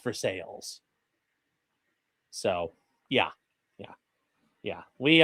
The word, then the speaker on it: Versailles: a place called um it's pronounced Versailles if you're in France. In in Ohio, it's pronounced for sales.